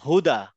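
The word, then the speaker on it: هدى: মাঝখানে আর কি বলেন হুদা হুদা এটা হ টা কোত্থেকে আসছে মাঝখান থেকে না শেষের থেকে এটা গলার শেষের থেকে আসবে হুদা হাদা হাদা হাদা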